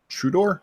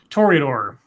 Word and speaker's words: Toreador: Yeah, to announce the Trudor? Is that how you say it? Toreador.